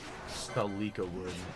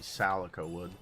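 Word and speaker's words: Salikawood: It's like when I say uh Celica wood and it's technically Salica wood, but I've just pronounced it celica wood my entire life.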